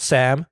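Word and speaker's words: 쌈: Sometimes you see like someone mispronounced or misspelled Sam with an extra S. It's pronounced Sam.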